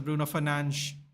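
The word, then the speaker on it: Bruno Fernandes: It is pronounced as Bruno Fernanch.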